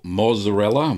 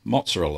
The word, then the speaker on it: mozzarella: ricotta paneer and quick mozzarella or Mazzarella mozzarella mozzarella that's right I've been told off many times for saying it wrong now you can make